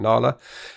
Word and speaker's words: Nala: When I first saw it, I thought it might be an Indian name, Nala, but she pronounced it Nala, and it's because her father was Alan, and her brother's Alan, and they couldn't tear themselves away from Alan. So she's Alan backwards. She's Nala.